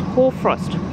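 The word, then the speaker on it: hoarfrost: got a funny name it's called horfrost but i think it's spelled h-o-a-r but it's funny anyway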